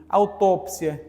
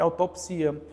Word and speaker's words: autópsia: acrobata biótipo e Biotipo autópsia e autopsia biópsia biopsia Então muitos desses casos podem ser a dupla prosódia gente tá certo então existe nas gramáticas uma relação desse grupo de palavras que podem ser essas Essas duas pronúncias aí então przo Exatamente isso